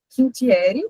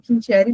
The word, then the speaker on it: Quintiere: E sobre o meu nome é Quintieri. Eu falo assim, a pronúncia original era outra, mas meu nome mesmo já é difícil, né? Então eu não vou enfeitar o sobrenome. Deixa o Quintieri mesmo, facilitar a vida de todo mundo.